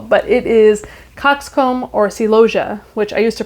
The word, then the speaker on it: celosia: Of course, you probably know from the title of the video as well, but it is coxcomb or celosia, which I used to pronounce celosia because I didn't actually look up the pronunciation.